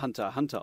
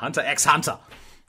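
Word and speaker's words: Hunter × Hunter: gelesen hunter ex ante alles eigentlich wird es nur hunter hunter ausgesprochen ich sag trotzdem hunter ex ante aber erst recht halten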